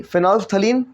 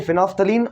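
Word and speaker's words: phenolphthalein: तो PM प्रधानमंत्री, फिनोल्फ्थलीन और मिथाइल ऑरेंज, फिनोल्फ्थलीन मिथाइल ऑरेंज, ठीक है। वैसे इसमें एल वेल साइलेंट है इसलिए इसको आप फिनोल्फ्थलीन कह देते हो, ठीक है।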